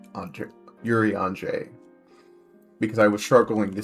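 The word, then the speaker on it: Urianger: His name to to me now is Yuri Hangar. I actually only learned how to pronounce his name after someone told me it is actually pronounced Yuri Andre on Yuri Andre because I was struggling to say it.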